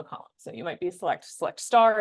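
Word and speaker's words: SELECT *: So you might be select star is how you pronounce that.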